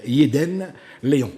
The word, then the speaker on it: Yedene Leon: Mais là, aujourd'hui, nous allons parler littérature, puisque j'ai à mes côtés mademoiselle Yeden Léon. Bonjour. Bonjour. Est-ce que j'ai bien prononcé là?